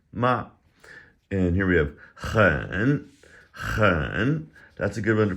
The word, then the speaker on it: 很: That H has a little bit of that in it. And it's a third tone, so let's exaggerate it. Hen.